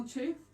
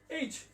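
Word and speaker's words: H: এটা দুইটা উচ্চারণ আছে, এইচ আর আরেকটি উচ্চারণ আছে হেচ। দুটি উচ্চারণ সঠিক। অনেকেই বলেন যে এইচ বললে ভুল হবে, শুধু হেইচই হবে না, তাদের কথাটা সঠিক না। এইচও সঠিক আছে, হেইচও সঠিক আছে।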